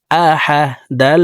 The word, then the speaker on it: أحد: হামজা জবর আ, হা জবর হা, আহা। দাল দুই পেশ দুন, আহাদুন। দাল কলকলার হরফ নিচের দিকে ধাবিত করে ধাক্কা দিয়ে উচ্চারণ করব। আহাদে। দাল ওয়াকফের ক্ষেত্রে সাকিন করে ফেলবো।